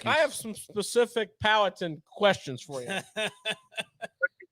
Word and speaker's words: Powhatan: How do you pronounce the name of your hometown? Powhatan.